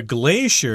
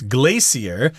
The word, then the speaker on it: glacier: Of course, we know what a glacier is. I've heard some people pronounce this word as glacier, but Americans say glacier, which in Chinese is like a river of ice.